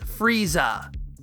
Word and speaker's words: Frieza: So, for the character's name, Toriyama simply chops off the last elongated vowel sound, changing furiza to furiza. That's a very minor modification, so returning this to English phonemes should be pretty simple. And it is. All the major English localizers agree, this is Frieza. Wait.